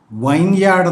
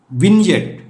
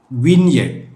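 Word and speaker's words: vineyard: വൈ എ ആർ ഡി പലരും വൈൻ യാർഡ് എന്ന് ഇത് പറഞ്ഞു കേട്ടിട്ടുണ്ട് this is വിൻ യെഡ് വിൻ യെഡ് meaning മുന്തിരിത്തോപ്പ് മുന്തിരിത്തോട്ടം അവസാനമായി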